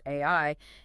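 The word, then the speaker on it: 愛: For example, in Japanese, the kanji for love, which is pronounced AI, is written with exactly 13 strokes, which is just a beautiful detail on its own.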